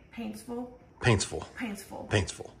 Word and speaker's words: Paintsville: say Paintsville Paintsville Paintsville Paintsville I say Paintsville but they say it like that painsville anyway um so Friday